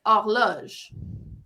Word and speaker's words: horloge: And clock in French is pronounced horloge.